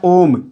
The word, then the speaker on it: ओम: जैसे एक शब्द आप सुने होंगे उच्चारण में, जैसे लिखा होता है ओम। ओम इस प्रकार से ओ दीर्घ स्वर है, लेकिन ओ को बोलते समय जिसे बोला गया ओम, इस प्रकार ओ को बोलने में हमें 2 मात्रा से